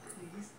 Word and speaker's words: Kikwi: animal known as Kwee Kwee. Kwee Kwee. I know I said it wrong. Kikwis. Oh. It's Kikwis. Kikwis are intelligent being capable of speech.